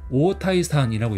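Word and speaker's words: 太田胃散: 일단 상품명부터 읽으면 이거는 이제 오타이산이라고 읽어요. 그래서 오를 좀 길게 읽으셔야 돼요.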